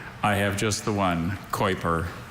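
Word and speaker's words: Keuper: Are there any alternate pronunciations? I have just the one, Kuiper.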